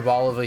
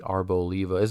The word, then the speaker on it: Arboliva: But if you pronounce it Arboliva, you're wrong. You're wrong. She's literally a fucking olive. It's not an... Let's see, Arboliva. It's not an olive. You go eat some fucking green olives? No! It's an olive. It's Arboliva. Anyway, carry on. Tangent over. Arbolivia? It's not even spelled like that! There's no E in there!